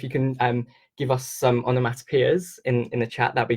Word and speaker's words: onomatopoeia: So the reason why I'm saying it like this, it's a bit funny, is if you think of the boy's name Joe, J-O-E, it's spelled similar to this, P-O-E, P-O-E.